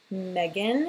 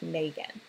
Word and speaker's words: Megan: Just like my name, Megan, is how people say it, but that's not how I want to pronounce it Megan, but it's spelled M-E-G-A-N.